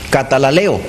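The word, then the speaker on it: καταλαλέω: La palabra griega allí es una palabra compuesta que significa, que se pronuncia, mejor dicho, katalaleo, que literalmente quiere decir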